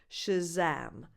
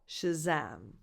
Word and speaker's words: Shazam: The stress is on the second syllable, so that vowel, the second vowel is defined and it's a, like the word cat. So the first vowel is not defined, Shazam, Shazam.